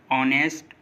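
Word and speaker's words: honest: जैसे honour, ऑनेस्ट, आवर, इको, इन सभी words में देखिए ओ से पहले एच आ रहा है और जब भी किसी वर्ड में ओ से पहले एच आएगा तो एच साइलेंट होगा।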